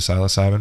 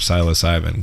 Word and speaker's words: psilocybin: That's what Terrence McKenna, the doctor of psilocybin, calls the God dose. 5 grams dried psilocybin. Psilocybin is how he pronounces it.